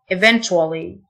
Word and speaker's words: eventually: enjoyable في النهاية eventually تيو تنطق تشه eventually يوجد exist exist يوضح